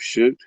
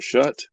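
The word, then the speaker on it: Shutt: Steve Shoot. Shoot or Shut. I think it's Shoot is how it's pronounced.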